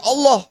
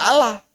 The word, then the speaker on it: Allah: Itu bacanya harus Allah, tidak Allah. Orang non-Islam macanya atas berkat rahmat Allah yang Maha Kuasa. Allah, meren. Enggak benar itu.